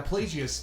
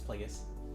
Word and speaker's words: Plagueis: Now Pelagius, like apparently he had like something similar where he couldn't breathe, like You Vader. keep pronouncing that name wrong, but whatever. Darth Pelagius? It's Plagueis.